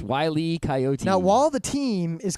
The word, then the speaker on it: Wile E. Coyote: It's not Wile-O Coyote. It's Wile E. Coyote.